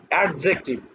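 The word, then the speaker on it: adjective: মানে এরকম হয়েছে যে অ্যাডজেক্টিভ, এট is Aisi TIV. আসলে নেটিভ ইংলিশ স্পিকাররা এখানে এই আমি যেটাকে ড বলতেছি, ওনারা ওখানে বর্গের জ উচ্চারণ করেন।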